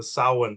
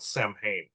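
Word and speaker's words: Samhain: and as you're getting towards beginning of the saan time frame it's pronounced sa people call it Sam Hayne but uh that's where not only it's known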